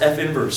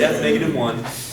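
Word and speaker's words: f⁻¹: this an exponent no no it just it's pronounced F inverse so let's all say this with me for a function the inverse is denoted what is that F inverse don't say F1 okay don't say that that negative 1 we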